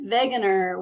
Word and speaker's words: Wegener: let's get started Alfred Wegener was a German scientist so you kind of pronounced the W with a V type sound um he studied meteorology